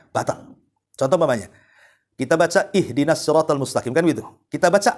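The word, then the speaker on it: اهدنا: contoh Manya kita baca ihdinatal mustaqim kan begitu kita baca ahdiniratal mustaqim harusnya di kasrah kita fathah pula tuh harusnya ihdinat kita katakan ahdin itu kan beda artinya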